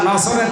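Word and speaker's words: نصر: সূরা নসর, কোন সূরা? বলেন নসর না নাসর? নুন সোয়াদ র।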